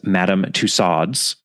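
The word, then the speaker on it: Tussauds: Madam tcads and yes I am allowed to pronounce that as Madam tads because Jane Wilkinson is an American and probably would have pronounced it that way herself I will just point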